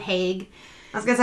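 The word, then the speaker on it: Haigh: john george haig okay i heard it pronounced hey and hague yeah but mostly hague and it was like people from london saying it so i was like you know i'm just going to go with haig i was going to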